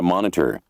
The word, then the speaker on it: monitor: 더 중요한 거는 이 모니터를 가리키고 있는데 이것도 이제 발음이 O 발음을 미국 사람들은 R로 많이 하는데 영국 사람들은 O 발음을 많이 해요.